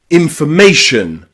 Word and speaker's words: information: You'll also hear the letter O pronounced with a schwa when it comes in words with T-I-O-N or S-I-O-N at the end, like information, information, or station, station, or relation, relation. Okay, that at the end is the O being pronounced as a schwa.